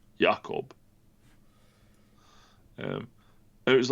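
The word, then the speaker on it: Jakob: the Yakob, which English speakers will say that's Jacob, but it's not because it's Swedish, so it's pronounced Yakob.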